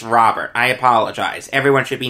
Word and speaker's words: Robert: I think I pronounced it Robert before. It's Robert.